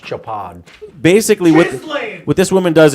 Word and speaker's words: Chopard: the jewelry world uh it's pronounced japan basically what this woman